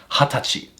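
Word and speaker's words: はたち: We actually pronounce this as hatachi.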